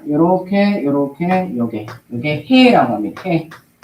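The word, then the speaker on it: ה: 자 요렇게 요렇게 요게 요게 해라고 합니다.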